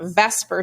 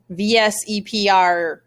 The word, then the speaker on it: VSEPR: to be talking about vesper theory today now i'm sure you looked at and you said vs epr theory but it's actually pronounced vesper theory i know it looks like veseper but it is vesper